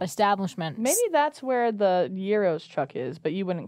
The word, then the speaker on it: gyros: Euros Euros no we're from America we say Gyros no there's a song by there's a song that Luke um Luke BR there's not even a u in it Euros is what it's pronounced the UK spins Yos